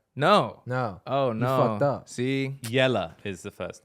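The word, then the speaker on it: Jelle: first name is spelled j-e-l-l-e yes can you pronounce that I assume it's called jelly no no no oh no see yellow is the first name yeah incorrect yellow yellow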